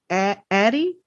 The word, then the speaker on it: Addie: And I think her name is pronounced Addie, A-D-I-E.